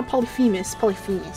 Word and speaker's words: Polyphemus: No, Polyphemus. I, for some reason, was adding an R where there was no R.